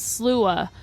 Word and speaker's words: Sluagh: the name slua nine times over and over pronounce slua for fear you might say it yourself perhaps